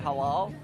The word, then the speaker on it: halal: Halal. Is that how you say it? Halal.